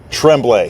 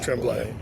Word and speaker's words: Tremblay: Tremblay. Tremblay. Big emphasis on the B in there. Yeah. You got to say the B.